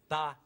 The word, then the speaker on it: paella: In Spain, we pronounce it paella.